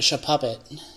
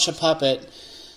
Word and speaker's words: Shuppet: know who you are con Shuppet show puppet if you call it should puppet delete all your Pokemon you don't deserve it Charmander Lunatone and